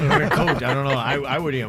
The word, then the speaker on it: ricotta: Oh, ricotta.